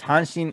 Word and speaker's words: Hanshin: so the tigers are the hansen tigers and hanshin is actually is actually the name of the